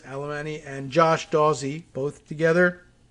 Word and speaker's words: Alemany: by jacqueline alemany is did you pronounce it with that many uh syllables alemany and josh dawsey both